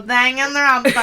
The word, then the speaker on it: Danganronpa: That's not how you say it. You say it like this. You go, Danganronpa.